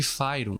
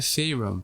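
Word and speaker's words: Faerûn: aqui é o que a gente chama de firum ou na pronúncia em inglês né faum Você pode chamar como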